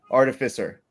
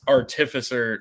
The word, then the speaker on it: artificer: to you well it's the stress should be on the penultimate syllable which is the second to last one which is f artificer so part of the